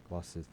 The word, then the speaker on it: Gloucester: Gloucester. I don't know. It looks like glucose meter, but it's Gloucester.